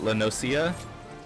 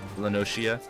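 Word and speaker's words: La Noscea: some people pronounce it lenosa but I pronounce the c as a she lenosa someday I'll figure out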